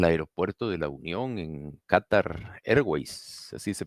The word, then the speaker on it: Qatar Airways: Hay gente que quiere venir a El Salvador, al aeropuerto de la Unión en Qatar Airways, así se pronuncia, ¿verdad?